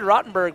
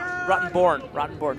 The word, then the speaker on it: Rottenborn: David Rottenberg with, Rottenberg, I always get this guy's name wrong. Yeah, Rottenborn.